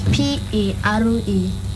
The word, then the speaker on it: parallelogram: Absolutely wrong. It is Parallelogram.